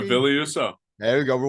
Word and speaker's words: Husso: Billy Husso, is that his name? Did I say it correctly? Yeah, Billy Husso.